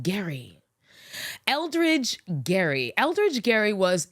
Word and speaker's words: Gerry: from Eldridge Gary yeah I pronounced it Gary Eldridge Gary Eldridge Gary